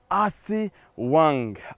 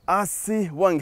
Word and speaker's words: اسي وانج: اسوان عاصمه نوبه الشمال اسي وانج اسي وانج هكذا كانت تلفظ بالنوبيه اسي وانج اسوان وطبعا بالنوبيه تعني الماء